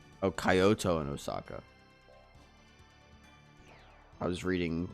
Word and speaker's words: Kyoto: Most people pronounce it Kyo.